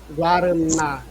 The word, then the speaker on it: Guaraná: Primeiro percebemos aqui que é uma palavra oxítona. Temos aqui a partícula na, Guaraná. A partícula é a sílaba que nós falamos mais fortemente. Portanto, é aqui a primeira sílaba pensando à esquerda, pensando da direita para a esquerda. A primeira sílaba. Guaraná é um oxítono terminado em A.